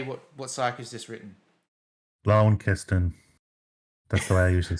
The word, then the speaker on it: Launceston: Launceston. That's the way I usually say it. Really? Okay. No, of course not. At least know the C's soft. So the correct pronunciation is Launceston. Lon. Launceston.